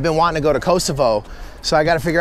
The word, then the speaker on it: Kosovo: I don't know for Albanians, it's not that common to pronounce it Kosovo because they are also Albanians. So. Right, right. And but before... I really want to go there. I heard it's really a beautiful country and interesting. Yeah, I mean, it's a country that has suffered a lot. I mean, part of Albania that has suffered a lot because it's not even a country. Don't have Kosovo is like Slavic pronunciation, but the name in